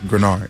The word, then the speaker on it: Greenard: And it's like, listen, it's Grenard. Grenard. It's definitely, I can understand why the mispronunciation, but. So you kind of say it with only one E.